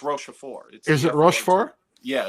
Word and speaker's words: Rochefort: Is that how you pronounce it? Rochefort? La Rochelle, I think you mean. No, it's Rochefort.